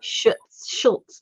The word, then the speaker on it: Schutz: By Urban Stephanie Schutz, not Schultz. Schutz.